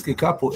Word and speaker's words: kikapu: And therefore you have the syllable ki with the vowel E, the syllable ka with the vowel A, the syllable pu with the vowel U.